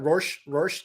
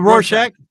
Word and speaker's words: Rorschach: Rorschach? The Rorschach.